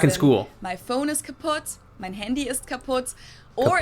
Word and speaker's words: kaputt: We spell it with 2 T's in Germany, but we pronounce it the same way. Kaputt.